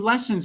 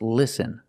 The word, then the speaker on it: listen: I have recorded about 12, 13 lessons on listening. They are being edited. The word is not pronounced lesson. It's pronounced listen. We use the short sound I, like this is.